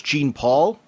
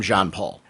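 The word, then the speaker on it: Jean-Paul: with john paul i had pronounced him for years gene paul when i was younger that i got so fixated on that it was it's still very hard for me to call him john paul i know that if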